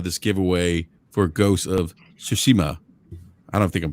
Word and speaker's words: Tsushima: giveaway for ghost of tsushima i don't think i'm pronouncing that correctly um sushima all right so like a silent t almost it's like tsushima yeah hey rook hey